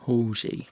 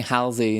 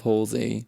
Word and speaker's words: Halsey: Halsey. See, I'm saying it right today. I kept on saying Halsey instead of Halsey, and my friend keeps on telling me off.